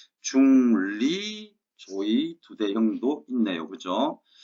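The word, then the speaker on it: 조의두대형: 조의 두대형. 자, 도금을 한번 잘 봐두시고 제 발음이 잘 안 들리시면 한번 보여드리겠습니다. 자, 관직명이 뭐라고요? 조의 두대형.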